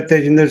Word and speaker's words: Tejinder: Yeah, yeah, Tejinder. Yeah. Okay, the H is silent.